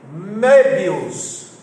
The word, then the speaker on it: Möbius: Quem tem uma curiosidade sobre isso foi um matemático chamado Möbius. Olha a escrita do nome dele. Meu Deus, extrema O, B-I-U-S. Só que a pronúncia é Möbius.